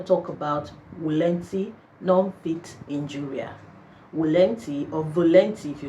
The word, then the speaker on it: volenti: you know in Latin in real Latin you know the V is pronounced as W so you have volanti but let's just call it volunte non-fiction and it's a